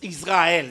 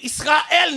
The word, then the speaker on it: Israël: Israël c'est parce que dans la bonne prononciation on ne dit pas Israël ça ne se dit pas il faut respecter l'original hébraïque de ce test de cette appellation de cette nation parce que il sera elle ne sera jamais une